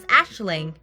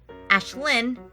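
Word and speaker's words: Aisling: means dream or vision pronounced variously as ashling ashlyn or ashleen a genre of irish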